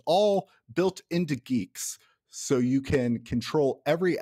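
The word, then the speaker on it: Guix: like i get to in geeks which also i should note it's not spelled like g-e-e-k-s it's spelled g-u-i-x geeks you write a declaration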